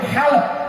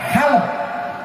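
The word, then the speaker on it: حلب: Orang Arab menyebut Halab, ha lam ba Halab. Orang Barat Aleppo, memang lidah Barat tidak fasih.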